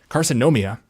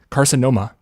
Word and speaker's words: carcinoma: ademia or carinia combined we see that right carcinom caromia that's still wrong carcinoma sorry were increased in